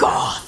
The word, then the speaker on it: Morgarthur: You have to say it like Morgotha.